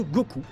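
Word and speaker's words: 五: simplement parce qu'en japonais le chiffre 5 se prononcent go et le chiffre 9 se prononce ce coup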